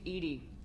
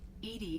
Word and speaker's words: EDI: the airlock is ajar why are you named ed ed is the phonetic pronunciation of Ed I that is an acronym